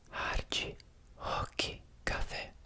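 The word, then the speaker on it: Rock Café: one of the cases, in Brazilian Portuguese, to my knowledge, when a word starts with an R, it's not a R-r, it's a h- sound. So hi cafe.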